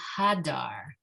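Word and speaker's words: הדר: And hadar. Hadar. There you go. You're putting in more chets than it's calling for, which is only upsetting your throat a teeny tiny bit, but it's okay.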